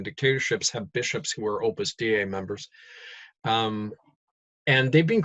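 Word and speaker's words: Opus Dei: That's spelled d ei. Opus da.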